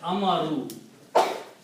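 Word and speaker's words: أمروا: end, like this, and put an alif which is not recited, and then pronounce this as amaru.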